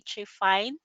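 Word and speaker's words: trephine: And I stand corrected, that would be trifine. How to pronounce that one, trifine. So sorry about mispronouncing that earlier.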